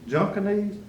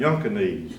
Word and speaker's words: Junkanese: I said, is your last name Junkanese? He looked at me, he said, it's not Junkanese, it's pronounced Yunkanese. The J is silent.